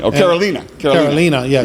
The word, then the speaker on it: Carolina: Carolina, yeah. It's spelled like Carolina, but it's pronounced Carolina.